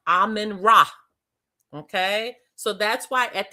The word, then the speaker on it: Amen Ra: AMEN-RA. It is pronounced Amen Ra.